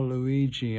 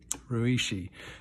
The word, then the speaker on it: Ryuichi: And I'm going, oh, Luigi, okay, Ryuichi is the way that we pronounce his name.